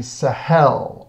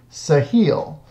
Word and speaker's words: Sahel: The next region we're going to talk about is the Sahel, or the Sahel, depending on how you want to pronounce it. It's kind of a tomato-tomato thing.